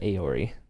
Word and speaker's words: Eorie: AE. Eorie. Like Eeyore. Pronounced Aori.